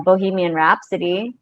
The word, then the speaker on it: Bohemian Rhapsody: of this song right can you repeat that for me to try bohemian rhapsody bohemian rap rap oh my gosh reps rep sodium rhapsody yeah rhapsody oh my gosh i used to pronounce that bohemia rhapsody yeah i don't even